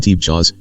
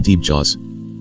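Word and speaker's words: Tebchaws: It looks like Hmong Teepchas, T-E-B-C-H-A-W-S, but pronounced close to Hmong Teepchas.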